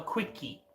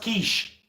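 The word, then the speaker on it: quiche: My friend said, "Can I have a quickie?" Cuz that's how he thought it was pronounced. I had to quickly pull this man back and say, "Bro, bruh, it's pronounced kiche. It's pronounced kish."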